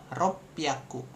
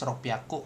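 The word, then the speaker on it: ろっぴゃく: Kemudian ada di 600 juga dia beda jadi ropyaku gitu. Ropiaku. Jadi ini kita ngomongin pelafalannya dulu nih, pronunciation-nya gitu. Karena nanti bisa juga keluar di ujian JFT nih. Kalian disuruh ini apa nih? 600 seperti itu. Nah, kalau 600 ropiaku ada su kecil di sini tuh ropiaku seperti itu.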